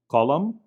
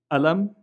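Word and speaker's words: قلم: And so the word for pen in Arabic, for instance, can be pronounced qalam, alam, and galam, depending on where you are in the very small territory known as Israel-Palestine.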